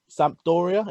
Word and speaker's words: Sampdoria: And was at Sampdoria. Is that how you pronounce it?